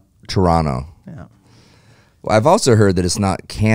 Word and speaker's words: Toronto: when speaking to Canadians don't pronounce the second T it's Toronto Toronto yeah well I've also